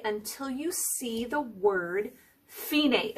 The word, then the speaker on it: Fine: you see the word finae it looks like the word fine but it's pronounced finae so that's where you